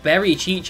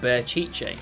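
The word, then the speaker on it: Berchiche: i spelling it wrong it's not very cheat it's just bear chichay whoopsie daisy i've been saying it wrong for ages he's got a what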